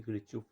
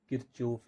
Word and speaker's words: Kirchhoff: ये हमारे पास को क्या होता है कि किरचॉफ लॉ क्या कहता है कि सम ऑफ इनपुट्स,